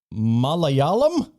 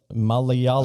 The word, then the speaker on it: Malayalam: malawian like malawi malawian malayalam i don't know like the uh probably saying it wrong spell it uh m-a-l-a-y-a-l-a-m like it sounds like malay malaysia i think malaysian would